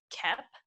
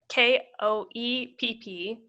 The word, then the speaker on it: Koepp: So the director is David Koepp, I think is how you say it. Koepp.